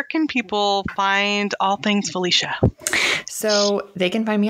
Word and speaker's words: Phylicia: real quick yeah so it's felicia but it's spelled p h y l i c i a and then my last name is spelled just like it sounds yeah yeah yeah your first name is the one that's like okay it's felicia it's ph though yeah there are no